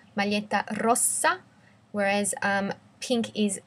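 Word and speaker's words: rossa: the difference in pronunciation red is a double s so it's a soft s Mala Rosa whereas um pink is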